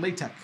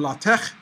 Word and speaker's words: LaTeX: pronounced it is not lei tech okay this is not gloves it is not plastic it is pronounced a lot of tests or lot of tech as in Bach but you know it's